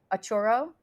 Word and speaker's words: Auro: Did I pronounce that right? Auro.